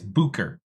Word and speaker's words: Bucher: Yeah, it it's pronounced Booker. It's German. Technically, it's Booker.